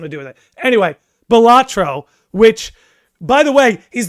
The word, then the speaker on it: Balatro: Is it pronounced Ballataro or is it Ballatro? Oh, Ballatro. I don't know why I'm saying Ballataro.